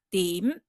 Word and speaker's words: 點: 單，但是讀音的時候呢，牢牢記住要把嘴巴合上來，不要不合嘴哦。點，好，點